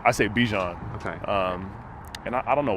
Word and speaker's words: Bijan: But losing Bijan would be devastating, I think, overall, especially the hand-wringing and whatnot about drafting running back that high.